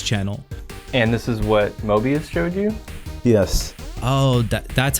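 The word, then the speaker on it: Moebius: And this is what Mobius showed you? Yes. Oh, that's how you pronounce it.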